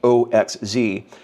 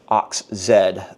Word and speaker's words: OXZ: Okay, up next I have a record by a group that forever I thought was just pronounced Oxz. Turns out it's actually Ox Zed.